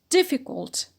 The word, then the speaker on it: difficult: Difficult. Difficult, stress on d, an adjective.